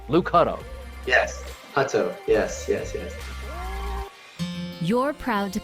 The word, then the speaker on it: Hutto: Well, let's review the pronunciations in the media guide. It's Luke Hutto, right? Luke Hutto. Yes. Hutto.